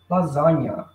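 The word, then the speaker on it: lasagna: questão da escrita porém a pronúncia gente é fácil lasanha lasanha lasanha porque porque eles quiseram inventaram e colocaram o vizinho aí ó lasanha Ok o g é mudo a pronúncia lasanha praticamente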